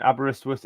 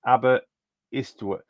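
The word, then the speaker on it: Aberystwyth: this year says flyo by the way Jason abber sorth is pronounced abber istw abber sorth abber estw worth yeah so someone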